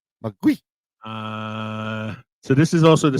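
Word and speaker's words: 魔鬼: The Mandarin pronunciation is Mugui. Mugui.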